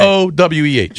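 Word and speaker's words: Oweh: It's easy to pronounce. Okay. O-W-E-H.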